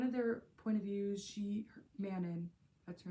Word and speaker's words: Manon: It's Manon, not Manon.